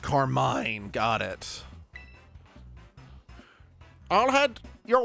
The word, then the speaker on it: Carmine: Her name pronounced Carmine.